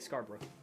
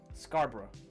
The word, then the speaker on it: Scarborough: Is that how you say it, Scarborough? That's how you say it in the UK, Scarborough.